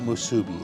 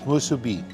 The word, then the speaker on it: musubi: you do see this, my friends on the mainland call this musubi. It's not musubi, it's musubi. That's how you say it.